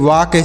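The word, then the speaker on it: walk: ए एल के टॉक डब्लू ए एल के वाक सी एच ए एल के चाक एफ ए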